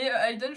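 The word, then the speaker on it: Hayden: Ça me dit quelque chose très puis tu pourras aller chercher Aiden aussi parce que je sais pas qui c'est mais c'est vos enfants avec avec monsieur Jefferson.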